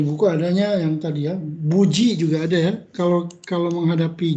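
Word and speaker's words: 無事: Berarti buji. Dibacanya buji. Nah, ya. Buji itu artinya selamat, misalnya sampai penerbangan ke Jepang itu buji shimashita. Hati-hati, ada dibaca bu, ada dibaca mu.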